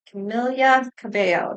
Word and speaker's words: Camila Cabello: reading for Camilia Cabo Camilia Cabo that's how you're supposed to say her name I just was watching and she actually said how to say her name so we probably all been saying it wrong it's camia cabia Cabo so Camilia Cabo all right let's get